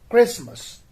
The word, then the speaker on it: Christmas: the beginning that is christmas so christmas is spelled as c-h-r-i-s-t-m-a-s christmas not christmas but it is christmas now we come to